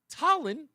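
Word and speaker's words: Tolland: Go to any one of the 5 locations of Between Rounds Bagel in South Windsor, Vernon, Manchester, Tallinn, and East Windsor.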